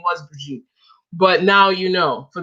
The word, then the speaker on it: Bridget: And my name is actually pronounced Brigitte. So there's no D. There's no D and J and all that crazy stuff. It's Brigitte. It's French. It's Brigitte.